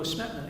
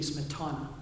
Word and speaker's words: Smetana: they think of Smetana, which I understand we pronounce incorrectly in the United States. It really should be Smetana. But everybody says Smetana.